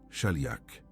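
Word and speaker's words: שליח: Ce mot se prononce shali. Shaliak. Retiens ce son.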